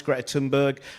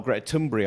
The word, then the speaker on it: Greta Thunberg: of great autistic minds, Greta Thunberg, or Greta Thunberg, I believe is the correct pronunciation, but if you say